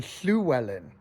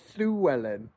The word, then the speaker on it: Llywelyn: It looks like a double L in the Latin script. It's an aspirated L in the Cymric language.